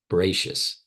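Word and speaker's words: בראשית: Now, the first letter represents, you don't say the first letter, it's a silent letter. The Aleph is a silent. Bere, sheets, Bereshis, right?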